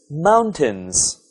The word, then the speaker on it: mountains: The next word is mountains. Mountains. Can you guess where the stress is? It's on the first syllable.